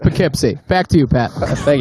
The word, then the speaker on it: Poughkeepsie: In the Frid Zone, it's yes. pronounced Poughkeepsie.